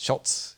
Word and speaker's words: Schultz: wanted to know the stories now, is it pronounced behind the Schultz or Scholes? It's Schultz, yeah.